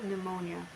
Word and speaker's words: pneumonia: PN, pronunciation N, example pneumonia.